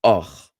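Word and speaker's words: אח: So the word for brother in Ashkenazic Hebrew would be not ach, but och.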